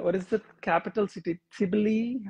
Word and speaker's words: Tbilisi: Tbilisi? How do you pronounce it? Tbilisi. We are in Tbilisi, Tbilisi okay.